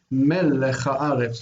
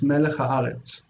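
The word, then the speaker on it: מלך הארץ: It also will keep its own secondary accent. We're actually going to not pronounce it as if there were no accent on it and it's only over here. We're going to read melech haaretz, melech haaretz. That it has a secondary stress that remains with it.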